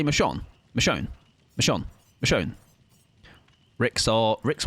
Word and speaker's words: Michonne: It's pronounced Michonne rather than Michon.